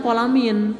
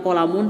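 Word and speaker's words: qalamin: Dibacanya kolamin, tidak kolamun, tidak kolaman.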